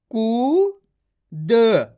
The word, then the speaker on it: कूद: आपको ये अच्छे से समझ लेना है, बड़े ऊ की मात्रा को खींच के पढ़ना है।